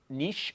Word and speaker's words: niche: there's this is a a certain niche or niche depending on how you say it you know people that